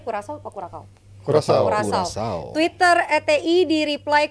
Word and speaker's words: Curaçao: Bacanya Curaçao apa Curacao? Curaçao.